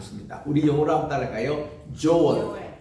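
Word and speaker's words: Joel: 조엘.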